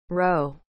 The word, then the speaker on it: roe: are egg laden ovary of a fish roe is spelled r o e row